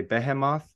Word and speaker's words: Behemoth: called uh Behemoth but they're from Poland and so they say Behemoth yeah yeah and I'm like no I'm not gonna say that I'm an American it's Behemoth like it like people will correct me and they'll be like Oh you mean and I'd be like no it's behemoth so and I think